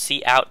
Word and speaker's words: cout: out which is pronounced C out by the way because it has to do with output um and then this